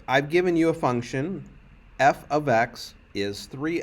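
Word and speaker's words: f(x): and be watching this okay so this is pronounced f of x f of x it does not mean f times x it's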